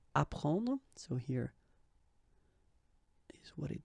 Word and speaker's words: apprendre: The first one, ap, so ap, you will get apprendre, apprendre, okay, you don't pronounce the double P, apprendre, so here is what it means.